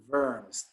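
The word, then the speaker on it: Worms: eventually tracked down um at the diet of verms remember how that that is pronounced diet over and the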